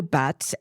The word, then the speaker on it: Batz: Charles de Batz, and apparently there's an argument about whether it's Bat or Batz, B-A-T-Z. His real name... Well, he says it's not the Z. You don't pronounce the Z, so I'm not going to worry about it.